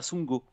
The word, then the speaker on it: Sundgau: et le sundgau j'ai dit quoi ça se prononce comme ça son go sous mango ça s'écrit sound go c'est ça